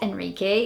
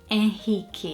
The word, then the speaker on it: Henrique: I think in English pronunciation, I'd probably say Henrique or Enrique, like Enrique Iglesias, but it's not Enrique. In Portuguese, we would say Henrique.